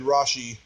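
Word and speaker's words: Rasche: it was the actor's name David rash David rashi rashi that's how you pronounce it yeah oh yeah he was very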